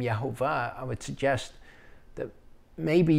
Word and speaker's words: Yahuah: try to rebuke us for using the name yahuwah i would suggest that maybe your understanding of